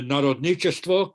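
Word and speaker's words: народничество: But the first epoch of populism is the Narodnichestvo, correct pronunciation.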